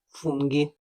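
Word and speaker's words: funghi: у словах джелато джорнале але якщо між д Та голосною і або е з'явиться Ака то маємо г як у словах спагеті фунги правда не складно Якщо хочеш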